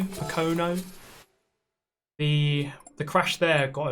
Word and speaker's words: Pocono: How do you pronounce that name? Pocono. Pocono.